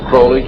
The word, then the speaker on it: Crowley: ever develop a litter Crawley he likes to be pronounced Croley to rhyme with holy and the statement today